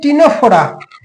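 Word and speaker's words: Ctenophora: Porifera Cnidaria এবার হচ্ছে টিনোফোরা same spelling C টা এখানে silent T সি টি ই এন ও পি এইচ ও আর এ আচ্ছা Cnidaria কি দেখেছিলাম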